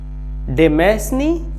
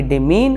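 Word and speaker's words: demesne: पैसा अर्न करते हैं तो डेमेसने नहीं बल्कि डि मीन और डमी डि मीन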